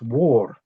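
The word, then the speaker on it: mór: So in Irish Gaelic the word vor is pronounced war.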